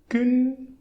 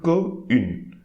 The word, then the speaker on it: qu'une: So qu'une, qu'une, qu'une. Okay, I'm not saying que une.